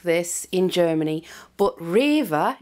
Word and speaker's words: REWE: can't get food like this in Germany but River it's a shop called River you spell it r e w e they have an